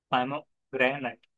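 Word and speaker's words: pomegranate: पामोग्रेनेट ऐसे कहा जाएगा, तो इसको पो नहीं पा पढ़ा जाएगा, पामोग्रेनेट ऐसे।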